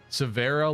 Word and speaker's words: Severa: Severa, like Vera Bradley.